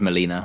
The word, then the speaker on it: Molina: And we even meet a lawyer character played by, is it Alfred Moreno? I always get his name wrong. Alfred Molina. Molina, sorry.